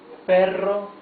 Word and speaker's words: perro: And since it has a double R, it has a rough sound of the R. Okay? Perro. Afuera, however, has only one R. So it's afuera, not afuera. El perro está afuera.